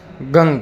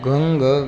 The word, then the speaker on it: गं: इस मंत्र के लिए आपको गंग बोलना है, ये विशेष ध्यान रहे। मैं आपको बार बार निवेदन कर रहा हूँ, ओम गंग गणपतिये नमः। इस मंत्र का ही जाप करना है और इसी उच्चारण में बोलना है।